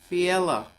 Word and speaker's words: Philae: It's called the Philaea Temple. Oh, it's amazing. Fiela is how they pronounce it here anyway.